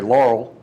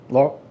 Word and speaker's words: Laurel: Church in Laurel or as we locals like to say Laurel. Laurel, just very quick, very swallow. The R is very important. All one syllable.